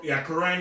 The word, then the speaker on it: Quran: Is that how you pronounce it? Quran is for the Muslim.